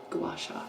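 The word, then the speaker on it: gua sha: Gasha. Gasha. That's better. That's how you pronounce it.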